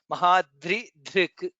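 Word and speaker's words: महाद्रिधृक्: So we should be very careful to pronounce all the three letters there. The, Rakara and Dhr. Mahaprana Dhr. Mahadri Dhrik.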